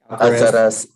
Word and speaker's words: Alcaraz: How do you pronounce that last name? Someone help me. Alcaraz? Alcaraz, yes.